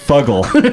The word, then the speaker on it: Fuggle: Sorry, and you're saying Fuggle? I believe it's pronounced Fuggle. It's Fuggle. So the double G would necessitate a hard G sound.